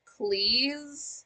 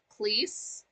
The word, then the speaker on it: Cleese: I will say, as far as John Cleese goes, it is pronounced Cleese, not Cleese, because his father, originally